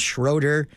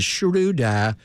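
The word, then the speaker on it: Schröder: in Atlanta Hawk and everybody called him Dennis Schroeder and then we realized how to say his name and is Shuda good player good Defender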